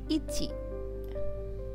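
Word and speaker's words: 一: প্রথমে এক এটা হচ্ছে একটা দাগ থাকবে যেটা উচ্চারণ হবে কিনা। ইচি উচ্চারণ হচ্ছে ইচি।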